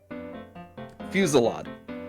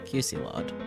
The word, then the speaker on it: fusillade: But how is it pronounced? Fusillade. Fusillade.